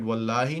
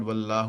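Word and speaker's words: والله: So that's why you're pronouncing it wallahi, not wallahu or wallaha.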